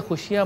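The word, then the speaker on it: خوشی: बढ़ाते बिस्मिल्लाह रहमान रहीम खुशी बेसिकली फारसी जबान का लफ्ज है जिसमें वाव जो है वो साइलेंट है लिखने में तो आता है पढ़ने में नहीं आता अरबी में फरहद कहा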